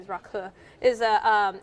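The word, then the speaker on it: rakı: nice gesture actually from from the host also pronounced rocky but i guess the proper pronunciation is raku is a it's very much like sambuca but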